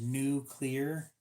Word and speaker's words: nuclear: So proper pronunciation for that one is nuclear.